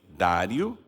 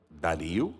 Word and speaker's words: Dário: prosperou no Reinado de Dário ou Daryl na conforme a o local a pronúncia etc eu acho que Dário então a gente fala Daryl e também às vezes fala o Daryl então nós podemos falar as duas formas Aqui tá escrito Daryl